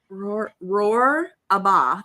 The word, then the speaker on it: Rohrbaugh: Rohrbaugh.